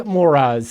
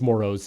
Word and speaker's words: Moras: my name baby moras so I'm all about it uh it's actually not how it's pronounced it's pronounced moros if you're listening please